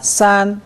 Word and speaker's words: 三: 산. 산. 산. 일성을 좀 높여봅시다. 산.